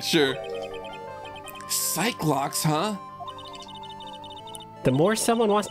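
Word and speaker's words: Psyche-Lock: That guy, but not to be that guy, but apparently they're pronounced psych locks. I also thought that they were supposed to be psyche locks, but someone said that they're doing it on purpose for the bit.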